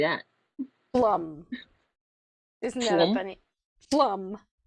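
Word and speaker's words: Pflaum: suburb p-f-l-a-u-m p-f-a-l-u-m-p a p f l a u m that's right plum wow how do you say that plum isn't that a funny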